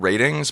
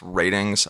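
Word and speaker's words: RTINGS: looking for new tech it's called ratings but it's spelled r t i n g s dot com that's ratings i call it and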